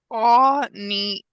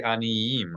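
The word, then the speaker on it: עניים: Why didn't you say aniyim? A lot of people would just read this aniyim with no Y. because the yod has a dagesh in it.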